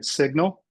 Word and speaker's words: signal: So sig now then read it the way it should be, signal.